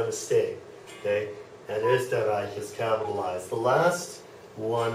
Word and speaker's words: Österreich: Okay, the O umlaut, like in Österreich. Österreich. That's that sound, eh, Österreich.